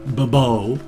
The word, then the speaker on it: Bobo: This is just Bobo Jr., or as I tend to call him, Bobo, putting the accent on the end for some weird reason.